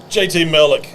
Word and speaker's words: JT Mellick: JT Mellick, we're excited. I guess I'm pronouncing it right. Yeah, there ain't no Okay. other way to pronounce it. So I mean, this it is looks like Mellick.